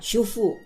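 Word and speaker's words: שובו: Ejaan Ibraninya shin, vav, bet, vav. Dibaca shufu, artinya return, kembali.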